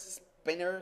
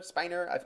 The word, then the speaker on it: Spiner: you know data is Brett spinner Spiner I do not pronounce his last name as a spinner um but I can't